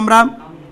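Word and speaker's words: امیر: এখানে ছিল মনে হয় আমির, আমির, আলিফ মিম ইয়ে রে। এই র কেন বলতেছেন? উর্দু উচ্চারণ করবেন তো সবাই। এদিকে আলিফ মিম ইয়ে রে, আমির। ইয়াটার উচ্চারণ কি হয়েছে? ই, এটা হচ্ছে আমির।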